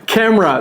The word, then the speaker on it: camera: Camera. Donc il y a le e. Camera comme banana camera.